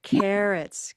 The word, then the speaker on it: carrots: That's all I need right now is where's the stress? The first syllable. Carrots. Good. Carrots.